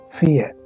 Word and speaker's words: Fiat: Fiat. Fiat. 不用讀T音.